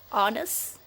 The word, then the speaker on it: honest: when, why, and vessel, and usually not pronounced at the beginning of a word, like honest and hour.